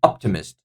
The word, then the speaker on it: optimist: Three, optimist. Optimist. That will be the first syllable is taking the stress.